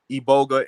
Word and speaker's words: iboga: the iboga plant and that's spelled i-b-o-g-a e-boga in the e-bolgaine they